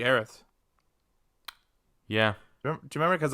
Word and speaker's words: Aerith: like a slice mistransa same way as like heiress it was always supposed to be aerith yeah do you remember